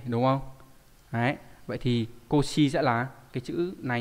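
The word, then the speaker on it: 腰: Đọc là Koshi là đáp án số mấy?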